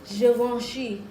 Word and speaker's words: Givenchy: expensive because they spelled it and got some silent letters in the goddamn name. It's Givenchy.